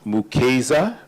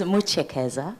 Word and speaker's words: Muchekeza: Second, we have Mukeza, I hope I have that pronounced properly, Director of Program Development and Accountability at the Africa Center from Alberta. Oh, well, that was a good try. It's Muchekeza. Muchekeza.